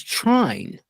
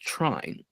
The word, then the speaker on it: trine: He means train.